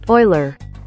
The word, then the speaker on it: Euler: uler to Vector node what's a uler oh it's a Swiss mathematician's last name uler is probably how you say it Oiler well wouldn't have called that oh there's a British Oiler huh also add a vector